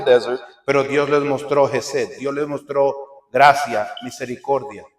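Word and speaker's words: חסד: les muestra al pueblo algo que en hebreo se pronuncia Hesed, que significa en español gracia.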